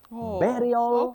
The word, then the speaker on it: burial: never been guided that this word has letter U taking sound e not sound a bury. No bury. Yes. Burial.